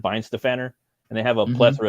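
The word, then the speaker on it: Weihenstephaner: Like the oldest brewery, like my favorite beer is from Weinstefaner, or they pronounce it Weinstefaner, and they have a plethora of different beers.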